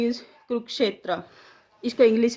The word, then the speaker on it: कुरुक्षेत्र: इसको बोलते हैं कुरुक्षेत्र, कुरुक्षेत्र नहीं।